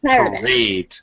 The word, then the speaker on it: parade: second syllable stress. So parade. Parade. Yeah, it's a little tricky because in almost all of English, two syllable words in English, especially nouns, uh have first syllable stress.